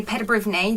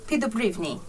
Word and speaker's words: Peddubriwny: it's what are you crying above on the pronunciation is in English we would say Peter Brittany but in Ukrainian feed the Brittany oh okay so anyway everybody this is Zoe